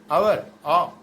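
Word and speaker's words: hour: आवर यानी ओ के जैसे उसका प्रोनाउंसिएशन कर रहा तो एन आवर बोल रहे हैं, एन ए आवर नहीं बोल रहे हैं, ऑनरेबल, एन ऑनरेबल मैन।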